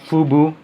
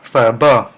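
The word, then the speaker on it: phở bò: This is from Vietnam, and like they say, this is they pronounce as pho bo, not pho bo, not phu bu, but pho bo, because they have a certain accent from the Vietnamese language.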